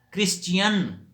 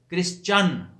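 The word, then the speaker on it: Christian: اسی طرح کرسچین لوگ کہہ جاتے ہیں، کرسچین. کرسچین نہیں، کرسچن صحیح تلفظ ہے، کرسچن.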